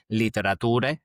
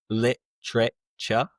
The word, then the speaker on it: literature: Honestly, I think this is where the selective memory comes back because English literature difficult pronunciation by the way. It's not liter but rather literature kind of like temperature.